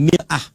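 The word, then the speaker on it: مرآة: Bahkan sering sekali orang Arab punya perumpamaan dengan mir'ah. Ya, kalimatnya sama, cuma cara bacanya beda. Al-mar'atu kal mir'ah. Yang satu pakai fathah, yang satu pakai kasrah.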